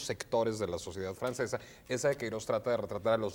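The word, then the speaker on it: Eça de Queiroz: Esa de Queiroz, a veces lo pronunciamos Eca de Queiroz erróneamente, porque no sabemos cómo se pronuncia esa letra que está en esa letra que es como una letra C, con una comita que se llama virgulilla, si no me equivoco.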